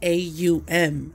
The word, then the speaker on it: Aum: know that, you know, AUM is really AUM, okay? That's how you enunciate it. And so the A in AUM, even though it's O-M the way we see it written, it's A-U-M, okay?